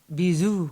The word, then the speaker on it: bisous: Aw, Bisous.